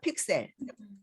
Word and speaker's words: 픽셀: 여기에서 px라고 하는 거는 어떻게 읽냐면 픽셀이라고 읽어요. 픽셀.